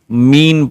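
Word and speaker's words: mesne: So it says mean profit. It is written me e s ne but s is silent.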